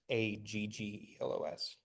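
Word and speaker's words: ἄγγελος: Angelos is Aggelos, but it's pronounced ng, and it means like messenger.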